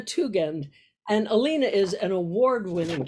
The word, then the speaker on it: Tugend: me again too again it's a hard g right alina tougand and alina is an